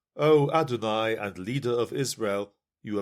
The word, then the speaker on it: Adonai: So when a Jew sees that word in writing, he pronounces it adonai, which means something like sovereignty or lord.